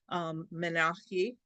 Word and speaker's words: menarche: So, when we are younger, we go through a process that starts our menstrual cycles, menarche, that's one way of pronouncing it.